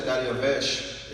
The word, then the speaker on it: Dariavesh: We see his name En hebreo se in Hebrew pronuncia Dariavesh is pronounced Dariavesh.